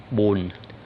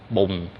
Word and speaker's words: bùn: For the people who come from the South Vietnam, they will pronounce like bùng, bùng, bùng, bùng, bùng, like B-U-N-G. Yeah, bùng. But it is bùn, bùn, bùn.